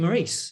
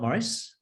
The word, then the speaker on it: Maurice: It's actually Maurice. It's not Maurice, it's Maurice."